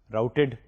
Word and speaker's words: routed: وہ implement it by using a program that is known as route D. Routed بھی بولتے ہیں, but the actual pronunciation is route D.